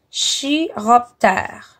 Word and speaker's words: chiroptère: Les scientifiques appellent les chauves-souris des chiroptères. Le ch se prononce comme un K.